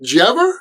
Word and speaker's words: did you ever: Keep in mind, just like wanna and gonna, j'ever or did you ever is not written English. That's just how it's pronounced in usual American English conversation.